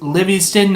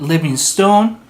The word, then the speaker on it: Livingston: The one regular episode is pronounced Livingston, not Livingstone.